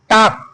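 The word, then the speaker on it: talk: बात करना की अंग्रेजी होता है, सॉरी, टॉक, टॉक। क्रिया में यस लगाना है या ईएस। आप देखो अंतिम अक्षर के है, अगर टी ए एल के, यल साइलेंट पाया जाता है बच्चे इसमें।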